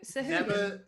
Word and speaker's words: Sahuagin: you click it, and it gives you Matt Mercer's voice pronouncing it. So that's what I go with. Sahuagin.